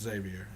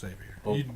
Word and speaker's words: Xavier: e r Xavier worthy it's Xavier I'm sorry but I love you but it's xavor do we it's spelled the same as Xavier University so I didn't didn't annunciate anyway I'm sorry we